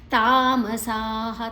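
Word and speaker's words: ತಾಮಸಾಃ: ಮುಂದಿನ ಅಕ್ಷರ ತಿ ಇದೆ ತಾಮಸಾಹ ತಾಮಸಾಹ ಮತ್ರ ಹೃಸ್ವ ಮತ್ತೆ ಉಳಿದದೆಲ್ಲ ದೀರ್ಘ ಅಕ್ಷರಗಳು ಸಾಹ ಗಚ್ಚಂತಿ ಮಹಾಪ್ರಾಣ ಮತ್ತೆ ಅಲ್ಪಪ್ರಾಣಚಿಲ್ಲಿ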